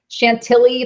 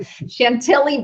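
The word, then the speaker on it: Chantilly: took place in Shant Shaley Chantelli like Billy, correct? I said it wrong, but Chantelli, Virginia.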